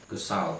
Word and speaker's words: Gestalt: dia bermain tentang persepsi kristal atau biasa kalau diucapkan Sara secara pengucapan itu kesal padahal kata Jerman yang berarti bentuk esensi atau